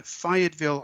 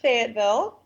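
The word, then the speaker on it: Fayetteville: But you grew up in Fiatville, Arkansas. So, what was it like growing up where you grew up in Fiatville? Well, we pronounce it Fagatville.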